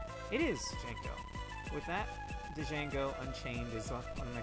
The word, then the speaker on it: Django: Oh, the D is silent. It's just Django. I always like pronouncing the D though. Django. Django.